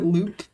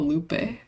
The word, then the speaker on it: Lupe: I've always pronounced it loop, but it is fair if you want to call it Lupe. Yeah. Lupe. L-U-P-E. E would mean the vowel is hard, right? So leap, because a U would be...